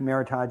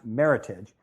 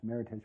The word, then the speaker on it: Meritage: pronounced Meritage, it's pronounced Meritage because it's an American term. It came out of a contest that happened in California, and it's a combination of merit and heritage. So it's pronounced Meritage, but there's very few